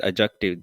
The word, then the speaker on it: adjective: pronouns verbs adjective this is adjective the D is silent adjectives adverbs preposition and